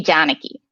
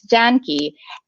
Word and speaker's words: Janki: And so technically, so my name is supposed to be Janaki, but it's Janki.